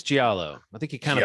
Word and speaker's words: Giallo: Jello. It's Jello. Are you saying Jello? Like, do I want no Jello? Giallo? Giallo. Oh, Giallo. I think it's Giallo. I think you kind of put a Giallo.